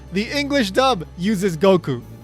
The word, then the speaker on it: Goku: In the case of Goku, well, the Goku pronunciation is the most widely used pronunciation by far within the English-speaking world. Yeah, there's some people that insist on Goku or something kind of like Goku, but most English speakers use Goku.